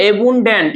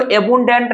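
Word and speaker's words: abundant: Second देखा जाए तो लिखा हुआ है एबुंडेंट। इसको एबुंडेंट नहीं पढ़ते हैं, इसे पढ़ते हैं एबुडेंट। इसमें जो है कि एन हमारा साइलेंट होता है।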